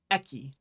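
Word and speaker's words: えき: Eki, right?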